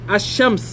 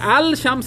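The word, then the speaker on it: الشمس: যেভাবে নাকি আশামস আপনি আল শামস বললে ভুল হবে, বলতে হবে আশামস, কিন্তু কামারের কাছে গেলে কি বলতে হবে?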